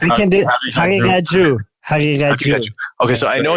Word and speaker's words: Haqiqatjou: It can be pronounced. I can do Haqiqatjou.